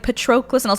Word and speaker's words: Patroclus: her i did yeah and uh but yes patroclus and how he sees himself is really crappily